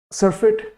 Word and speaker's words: surfeit: इसका pronunciation surfeit भी कर सकते हो, that is not an issue. सरफिट वैसे इसका एक्चुअल प्रोनाउंसिएशन है।